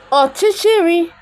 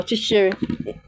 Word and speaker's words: ọchịchịrị: Ọchịchịrị.